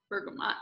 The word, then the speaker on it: bergamot: So I know how to spell it all, but the pronunciation is tough. So bergamot, yeah.